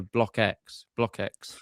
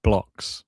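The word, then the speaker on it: Blockx: Monte Carlo, losing to Block X straight sets. I now know I've been corrected. It's Blocks. It's how we say his name.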